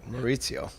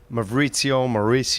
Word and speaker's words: Maurizio: Thank you for saying my name right, Maurizio. I said it right? Yeah, one of the two is like messed up, like Mauricio, whatever the fuck.